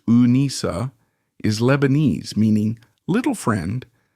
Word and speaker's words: Anissa: Her name, pronounced Unisa, is Lebanese, meaning little friend, a nod to her maternal grandparents heritage.